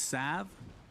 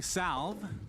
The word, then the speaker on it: salve: it called healing cell did you know it's sav does it have to be that that's the correct pronunciation if you say healing salve like me and cinderin you're pronouncing it wrong like cinderella and i